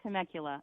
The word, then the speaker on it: Temecula: How do you? You said it perfectly. Temecula.